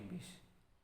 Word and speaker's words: bus: Ya bacanya masih bis, tapi tulisannya bus.